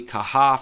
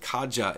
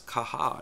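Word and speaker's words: Caja: that and called it kaja in the past but the corre correct pronunciation is kaha it's based on the Spanish language so one of the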